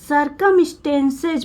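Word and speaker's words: circumstances: CIR को सर पढ़ा जाता है, CIR को सर पढ़ा जाएगा, और C को आधा का पढ़ा जाएगा, यू साइलेंट रहेगा। M को आधा माँ पढ़ा जाएगा। टेंस, STAN को टेंस पढ़ा जाएगा, स्टेन पढ़ा जाएगा, स्टेंस।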